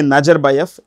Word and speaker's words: Nazarbayev: In Central Asia, when a word ends in with V, it's pronounced with an F. It's pronounced with an F. So, even if you say Nazarbayev, it won't make any difference.